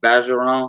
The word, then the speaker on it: Bergeron: like or early y'all look up jamie bassaroon it's spelled bergeron like what's that guy's name that there's the the video american funniest video something version wrong but it's bazaron he's from louisiana oh